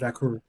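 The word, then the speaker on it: Vaquer: Vaker? Vacker. All right. Vacker.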